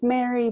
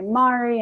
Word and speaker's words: Mari: my correct pronunciation and they would try and correct me saying my name was Mary but I would say Mari and it sounds so similar and so I really